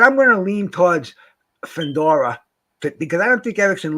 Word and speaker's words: Fundora: How you pronounce his name? Yeah, Fundora.